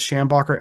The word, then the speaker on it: Schambacher: Um, it's pronounced a few different ways and spelled a few different ways. The most consistent one I found is, like I said, is Schambacher, Schambacher.